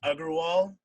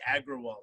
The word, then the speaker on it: Agarwal: My last name is Agarwal, but literally until now, I always just say Agrawal because it's phonetically easier.